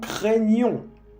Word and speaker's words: craignons: ¿Ves que aquí hay un G y un N? G y N en francés hace exacto el mismo sonido que el N con la ñ en español.